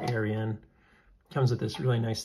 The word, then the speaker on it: Arion: the uh Artisan Cutlery I think it's pronounced like Ariane or Aryan comes with this really